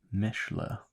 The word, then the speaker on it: Michelin: If you want to get fancy, pronounce it like the original French, Michelin.